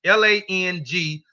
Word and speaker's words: langwidge: This is the way Gullah spells language and pronounce the word language. Langwidge.